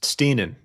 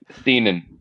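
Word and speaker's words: Stiennon: Richard Steinon, want to make sure I pronounce the name right. I'm sure you know that one is Stenan actually.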